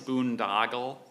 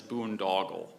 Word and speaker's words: boondoggle: Boondoggle, and well, there's two variant pronunciations. One is boondoggle, and the other is boondoggle.